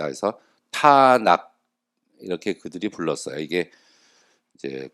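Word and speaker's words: תנ״ך: 앞에 장모음 가지고 있고 뒤에 단모음을 가지고 있는데, 이렇게 읽으면은 이게 티읕 발음이 나고 이게 니은 발음이 나고 이게 키역 발음이 나옵니다. 그래서 타낙, 이렇게 그들이 불렀어요.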